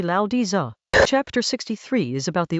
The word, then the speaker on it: Laozi: The Tao Te Ching is a Chinese text from around the 4th or 3rd century BCE, attributed to a figure called Laozi, roughly Lao Di Za.